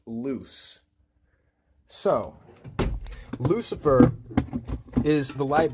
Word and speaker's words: luz: L-U-Z is the Spanish word for light, but they're both pronounced loose.